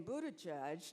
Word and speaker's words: Buttigieg: to face how do you get the name Buddha judge to become a household name in America I have heard it mispronounced so many times by my colleagues in